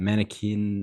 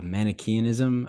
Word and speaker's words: Manichaeanism: blog you talked about mannequin how do you say that mannequin uh uh manichaeanism um yeah okay correct forgive me oh that's